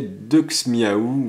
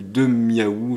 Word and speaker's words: Duxmiaou: Mais ce n'est pas une erreur, hein, c'est une vraie carte, donc bien indiqué, Duxmiaou, ou Demiaou, je sais pas comment vous prononcez. Techniquement on dit deux, pas Dux, Deux, bon bref.